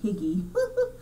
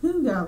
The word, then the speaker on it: hygge: I still want to say Hygge, but it's pronounced Hygge.